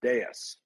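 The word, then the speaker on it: DAIS: you know I think they just pronounce it deas right d a i s so de um the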